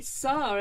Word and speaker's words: Sarr: This is Jimmy Sarr, everyone.